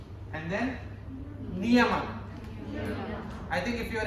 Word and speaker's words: Niyama: And then Niyama.